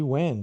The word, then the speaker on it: when: Repare a pronúncia aqui de when, de quando. É escrito com H e é mais um H mudo.